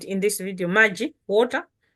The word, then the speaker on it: Maji: I said in this video, Maji, water, M-A-J-I, or M-R-J-E. That's how we'll spell it in Chitumbuka.